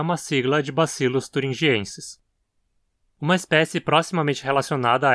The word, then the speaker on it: thuringiensis: Uma das mais famosas atualmente é Bacillus thuringiensis. Aqui a penúltima sílaba termina em consoante de novo, de forma que a pronúncia é como paroxítona também. Thuringiensis.